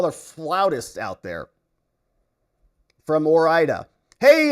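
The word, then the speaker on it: Ore-Ida: He says, hey, moron, it's pronounced Orida, as in Oregon and Idaho.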